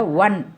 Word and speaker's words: one: நம்ம ஆன் அப்படின்னு சொல்கிறது இல்லை, ONE ஆன் சொல்கிறது இல்லை, ஒன் அப்படின்னு சொல்லுவோம். ஆங்கிலேயர்கள் ஒன் அப்படிம்பாங்க.